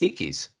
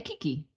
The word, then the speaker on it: keiki: A kiki or Yep, kaiki. exactly. Okay, for those of you who are very good at pronunciation, it is spelled Keike, right?